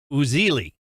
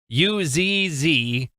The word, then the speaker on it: Uzziel: Multiple bystanders made derogatory comments directed at, I'm not using the guy's name because I can't pronounce it. He's not what one would consider a native-born American. It's Uzziel. U-Z-Z-I-E-L.